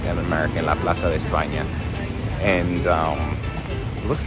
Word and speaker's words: Plaza de España: Okay, so we are going to, let me say it like a Spanish person, La Plaza de España. La Plaza de España. I think the S's are still S's, but the C's and Z's are the lisp.